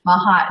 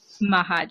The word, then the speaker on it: Machac: Mahac is how you say it. Mahac.